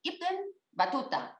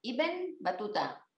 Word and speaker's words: Ibn Battuta: nos pide hablar de, a ver si lo pronuncio bien, Ibn Battuta, Ibn Battuta, Ibn Battuta. Bueno, pues yo no hablo tampoco el árabe, pero supongo que por ahí se ha de pronunciar.